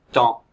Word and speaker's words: temps: m comme ici là le mot suivant le temps il y a un P même s'il est muet c'est un P et donc ça s'écrit T e M e m pour le son en du mot temps le temps t la